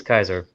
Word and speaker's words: Caesar: you know julius you know how we we pronounce caesar caesar but in latin zebra's actually pronounced kaiser wow that makes sense like kaiser permanente took